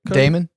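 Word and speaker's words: Daemon: diamond damon you know how you say it damon damon for sure i know because that's the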